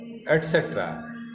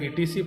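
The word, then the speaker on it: etc.: इसके एग्जाम्पल्स हैं जैसे बी, सी, डी, एफ एटसेट्रा। इसे हम लोग एटसेट्रा पढ़ते हैं। कुछ लोग इसे ईटीसी पढ़ते हैं, जो गलत है। ईटीसी नहीं पढ़ें, हमेशा एटसेट्रा पढ़ें।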